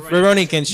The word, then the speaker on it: Rurouni Kenshin: 1 versus the 10 seed the I can't pronounce Kenshin. How do you Rurouni Kenshin.